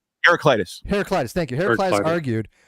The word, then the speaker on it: Heraclitus: was her herac what the how do you pronounce his name heraclitus heraclitus thank you hertis argued um I say